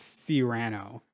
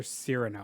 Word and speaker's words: Cyrano: forget i'm so sorry i think it's si rano or cyrano one of those i know it's not